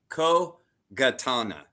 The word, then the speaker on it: kogatana: actually is called a kogatana with a G, not a Huh?